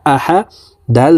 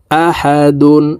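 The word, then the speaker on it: أَحَد: জবর আহা জবর হা আহা দাল দুই পেশ দুন আহাদুন তো দালকে এখানে এভাবে থামবো আহাদে নিচের দিকে ধাবিত করে কলকলা করে ধাক্কা দিয়ে উচ্চারণ করতে হবে আহাদে আহাদে কুফুয়ান আহাদে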